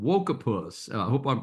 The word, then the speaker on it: Woketopus: Uh, the new book is called Wokus. I hope I'm pronouncing that the way you intended. So, tell us about the new book and why people should read it. Yeah, it's Woketopus, like woke octopus.